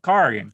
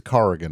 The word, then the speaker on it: Corrigan: were correcting my pronunciation how many times i got to tell you it's car again mike carrigan i'll never say it